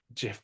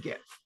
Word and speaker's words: Jif: So Jif peanut butter, not Gif peanut butter. No, I think it's pronounced Gif. No, Jif peanut butter is spelled with a J. What are you talking about? Yeah, but it's a soft J.